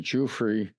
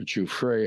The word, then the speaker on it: Giuffre: One talkative young woman named Virginia Giuffre, or Giuffre, however they pronounce it. I pronounce it the way the musician Jimmy Giuffre did.